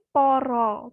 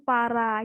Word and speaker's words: para: Ini ya Mas Fahmi kayak kalau A di bahasa Jawa itu bacanya bisa O. Jadi kayak aminangkani pamundutanipun saking poro kadang panitia panyuluhan. Jadi yang ini poro, bukan para gitu ya Mas Fahmi ya.